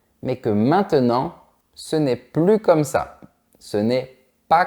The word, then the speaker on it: plus: complètement changé c'est bien attention à ne pas prononcer la lettre S on va dire plus comme ça je te donne des